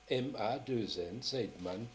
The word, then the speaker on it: Seidman: Seidman, ça s'écrit comment? S-E-I-D-M-A-2-N, Seidman.